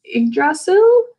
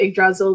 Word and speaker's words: Yggdrasil: And in the midst of that, Odin accomplishes one of his goals, which is regrowing the world tree, which I believe is pronounced Yggdrasil.